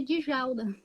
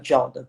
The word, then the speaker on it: Djalda: todo mundo chama de Djalda. Ah, então seria Jalda. Djalda. É Dejalda, só que o D pronuncia-se no seu caso, né? É. O meu não, o meu D não se pronuncia.